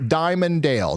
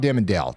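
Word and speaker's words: Dimondale: Somebody says it's pronounced Diamonddale, not Dimmondale.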